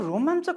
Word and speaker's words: रोमाञ्चक: रोमाञ्चक, हेर्नुहोस् है त, यसको उच्चारण यस्तो हुन्छ, रोमाञ्चक। रोमाञ्चक लेख्दाखेरि यो य थियो भने हाम्रो उच्चारणमा य हुन्न, न हुन्छ। त्यसकारणले रोमाञ्चक, क पनि पुरा हुँदैन, आधा कको मात्रै उच्चारण हुन्छ। त्यसकारणले रोमाञ्चक 3 अक्षरले बनेको शब्द हो रोमाञ्चक।